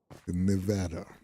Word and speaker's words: Nevada: Yeah, I say Nevada. Is that not the way you Yeah, at least somebody agrees. Pronounce a like you would an at Nevada.